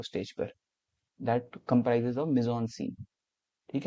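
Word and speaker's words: mise-en-scène: तो that is actually, उसको हम कहते हैं मिजॉन सीन। यहाँ लिखा है ना सेकंड वाला, जैसे स्पेलिंग ऐसे MISCN सीन।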